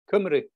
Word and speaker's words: Cymru: Cymru.